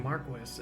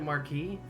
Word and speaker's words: marquis: himself the Marquis himself why do they keep saying Marquis isn't it Marquee it can be both depending on how you say it the E that little